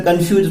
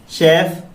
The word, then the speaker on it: chef: क्या है इसका right sound? कैफ, चैफ, शेफ, what would you like to से? तो फ्रेंड्स, इसका राइट प्रोनाउंसिएशन है शेफ। Okay, शेफ। CHEF, शेफ। तो ये इसकी स्पेलिंग हो गई CHEF, इसका साउंड शेफ।